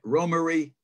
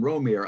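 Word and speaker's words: Romare: working 1950s 60s 70s and 80s named roma romarie bearden now a lot of people call him romer i always did because it's spelled r-o-m-a-r-e so go figure it looks like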